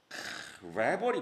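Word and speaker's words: rebel: 뭐 이미 뭐 이거 뭐 한몰 갔나 아무튼 레벌이 뭡니까?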